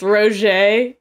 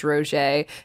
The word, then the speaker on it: Roget: I hope you got a kick out of us pronouncing it as Roger. We should have called it Rajet or something ridiculous. But it is Roger. What were we calling? What do we call it? Probably Roget. Roget. Yeah. That's how we say it in America. That's how it's said here. Back it up.